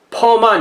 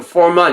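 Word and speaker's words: Furman: 이게 F 발음을 한국말로는 피읍으로 쓸 수밖에 없기 때문에 저는 히읗으로 쓰는 걸 좋아하는데 그렇게 안 쓰니까, 그래서 써놓기는 퍼만 이렇게 써놓지만 읽기는 포먼 이렇게 읽어야 되는 것 같아요.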